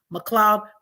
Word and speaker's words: McLeod: in my name but it's actually spelled m CLE e o d m CLE e o d it's pronounced McLoud but MC L EOD